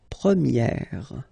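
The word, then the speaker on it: première: change quite much because if you think about the masculine form you pronounce it prier okay prier and then for the feminine form you will get Premier okay so it's open this a sound Premier prier prier and then second example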